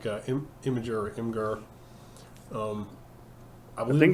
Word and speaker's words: Imgur: So, but for like 3 days, this was everywhere, or like Imager or Imgur. I think it's actually pronounced Imager. But I don't like saying Imager. I like to say Imgur.